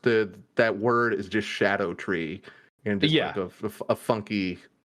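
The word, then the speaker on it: Scadutree: that word is just Shadow tree and just a funky pronunciation they're doing like an Old English thing uh it's the C is pronounced like an sh rather than like a k it's it's just Shadow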